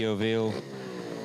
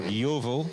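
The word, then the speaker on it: Yeovil: thing 204 Tai kellet from the yoil uh motorcycle club or YoVille if you like to pronounce it that way that's a rider just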